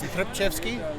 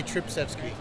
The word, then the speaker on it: Tripchevsky: It's Tripchevsky. You have to have that Tripchevsky in there. So people just say Tripsevsky.